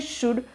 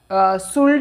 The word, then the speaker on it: should: पहला हम देख लेते हैं शुड। तो इसका प्रोनाउंसिएशन है शुड, शुल्ड नहीं है, ध्यान दीजिए, शुड है।